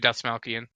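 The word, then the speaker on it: Dastmalchian: Someone else please pronounce his last name for me. David Let me get this. Dasmalkian. Yeah, David Dasmalkian.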